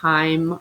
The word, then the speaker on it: chyme: kind of soupy mixture chyme rhymes with time and it will get